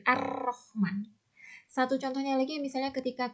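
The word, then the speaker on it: الرحمن: Jadi cara membacanya memasukkan al ke dalam huruf syamsiyah, huruf di depannya. Masukkan al ke dalam ro, jadi Ar-Rahman. Bukan Al-Rahman ya, tapi Ar-Rahman.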